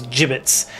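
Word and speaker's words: gibbets: Yeah, I'm pretty sure it's pronounced jibits. I will check. And crows. Exactly. Exactly. Um yeah, I'm pretty sure it is. Yeah, it's J as in jam. So it's jibbits.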